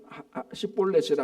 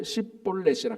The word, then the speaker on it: 시볼렛: 폴레이란 말을 에브라임 사람은 발음을 못 한대요. 그래서 6절에 보면은 그에게 이르기를 벌렛이라 발음 시볼렛이라 하여 에브라임 사람이 그렇게 바로 발음하지 못하고 씹볼렛이라 그 쉽하고 씹하고 이게 좀 위하고 우하고 발음이 안 되는가 봐요.